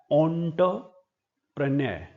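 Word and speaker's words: entrepreneur: यह शब्द देखने में एंटरप्रेन्योर लग रहा है। लेकिन इसकी प्रोनाउंसिएशन है ऑनप्रेन्य एंटरप्रेन्य Pranay F ए सी ए डी ई ये शब्द है फसाड।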